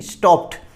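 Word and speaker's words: stopped: कुछ वर्ड ऐसे भी होते हैं जिनके लास्ट में ईडी लगा रहता है लेकिन उनका जो साउंड प्रोनाउंसिएशन होता है टी से होता है। जैसे लिखा है हमने यहाँ पर स्टॉप्ड, स्टॉप्ड नहीं, स्टॉप्ड।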